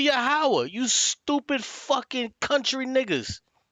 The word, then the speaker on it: Yahweh: Why you ain't cut this nigga off and said, no, it's not Yohei Wavhe, it's actually Yahweh, you stupid fucking country niggas.